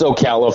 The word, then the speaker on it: Ocala: It's Ocala, Florida. Like everybody pretty much mispronounces it and stuff like that.